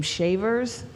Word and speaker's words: Chavers: who have the name shavers spelled s-h-a-v-e-r-s which is their spelling chavers which is pronounced Shavers c-h-a-v-e-r-s Chavis c-h-a-v-i-s um